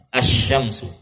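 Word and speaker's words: الشمس: Namun jika alif lam itu masuk pada huruf asy-syamsiyah, sebagaimana penamaannya asy-syamsiyah, pengucapannya seperti asy-syams, lamnya tidak dibaca. Ya, langsung melebur kepada huruf setelah lam, masuk bertasydid kepada huruf setelah lam. Asy-syamsu.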